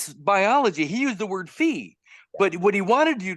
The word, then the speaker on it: phi: What's really cool about the word fee, F-E-E, is that there's another word, P-H-I, that is also pronounced fee.